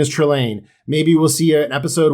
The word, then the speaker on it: Trelane: His name is Trelane.